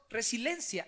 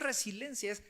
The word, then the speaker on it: resiliencia: la mayoría está lo pronunciamos más mal pronunciamos resiliencia y no es residencias resiliencia y al buscar un poquito